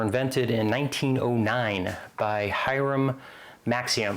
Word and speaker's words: Maxim: Um, so suppressors, also known as silencers, were invented in 1909 by Hyram Maxium. At least I think it's pronounced Maximum.